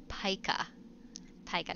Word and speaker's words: pika: the real pika and it is pronounced pika tige not pika Pike CLE pika there's the American pika